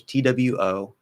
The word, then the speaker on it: two: Not the word to, because there's TWO. That's always a strong T.